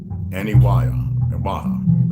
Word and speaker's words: Aniwaha: Aniwaha. That's how I pronounce it.